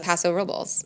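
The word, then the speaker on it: Paso Robles: me that I say Paso rubles incorrectly that's Paso rubles is that what we're supposed to say no that's anyone you talk to in Paso says Paso rubles and I've asked I've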